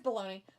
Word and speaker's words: Bologna: That's not how you say it, but that's how I'm saying it. The old Bologna. Bologna. It's Bologna. Bologna, Italy.